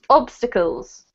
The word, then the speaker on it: obstacles: And then this one here, the emphasis, Alejandro, is on ob, so it's obstacles.